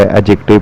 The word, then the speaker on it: adjective: पहले शुरू करते हैं एडजेक्टिव इसमें डी साइलेंट होता है इसलिए इसे एडजेक्टिव के बजाय एडजेक्टिव पढ़ते हैं हमारे माहौल में हम